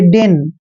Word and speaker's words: deign: देखिए डी का उच्चारण हम डे करते हैं और EIGN को हम इन पढ़ेंगे, यानी कि डिन, ठीक है।